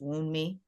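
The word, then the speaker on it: Wunmi: Um, but I think that I think her name is pronounced Wound Me.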